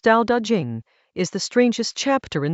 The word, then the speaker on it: Dao De Jing: Chapter 20 of the Dao De Jing, pronounced Dao De Jing, is the strangest chapter in the book.